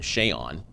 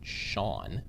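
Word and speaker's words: Seun: right um and then shay on and i do think it's interesting his name is pronounced shayon if you listen to some of his teachers they pronounced it sean right little things like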